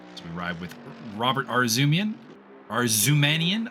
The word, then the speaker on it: Arzumanian: So we ride with Robert Arzumanian. I'm going to have to relearn how to pronounce his name because apparently there was an A-N there that I was just ignoring the whole time.